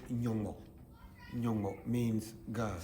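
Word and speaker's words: Nyongmo: We say Nyongo. Nyongo means God. Spell it.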